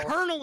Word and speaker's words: colonel: I hate words that look like one thing, but they're pronounced completely different, like colonel. Who came up with that? Yeah, who thought colonel? Colonel is colonel.